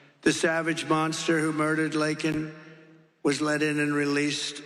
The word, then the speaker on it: Laken: And then he pronounced her name wrong. Remember, he called her Lincoln. Remember that? In Congress, he called her Lincoln, didn't even have the respect of knowing her name.